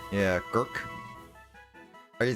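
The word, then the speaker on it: Gercke: Sounds like Gurk or Gurk. It does. I guess it depends on the nationality. Yeah, Gurk. Are you like Gurka or something like that?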